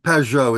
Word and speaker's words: Pou: if Mr and am I pronouncing your name properly yep Pou is correct yes okay Mr Pou do you have questions